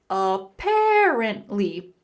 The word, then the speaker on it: apparently: In the word apparently, the stress on the second syllable, apparently.